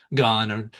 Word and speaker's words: Gane: But but yeah, the main fight, UFC 31, Aspenol versus Gain and uh Gone. I think I think it's pronounced gone.